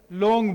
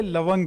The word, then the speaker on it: لونگ: پشتو اور اردو میں تھوڑا سا تلفظ کا اختلاف ہے. اردو میں لونگ بولا جاتا ہے اور پشتو میں ہم اسے لونگ کہتے ہیں.